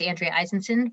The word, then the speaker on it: Andrea Eisenson: um like uh grace said my name is andrea eisenson pronounced perfectly thank you grace thank you um i